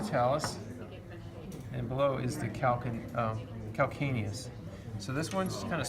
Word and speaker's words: calcaneus: and below is the calcaneus. So this one's kind of spelled weird. Some people want to say calcaneus, but it's a hard C sound. Calcaneus.